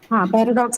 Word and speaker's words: paradox: Paradox is a noun, and the stress is going to be First syllable.